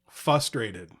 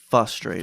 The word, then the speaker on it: frustrated: I'm probably setting myself up here for people to start saying these words to me, but first and foremost, frustrated. Frustrated. Frustrated. No R.